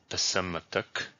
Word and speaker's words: Psamtik: Altogether, this reads Psamtik, which in anglicized reading is pronounced Psamtik, or according to Latin and Greek historiography, Psammeticus.